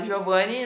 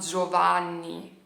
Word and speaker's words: Giovanni: não é Giovani Você pode falar Giovani no Brasil eu sem falei Giovani no Brasil mas quando você tá aqui na itlia você vai falar Giovanni entendeu Giovanni se você prefere falar com a pronuncia correta da pessoa que tá aqui né j j enfim